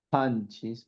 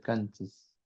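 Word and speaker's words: qanchis: Panchis, pronuncio muy bien, por favor. es con la pronunciación postvelar, una ja y no es una cas, no puedo decir canchis, es con la expresión.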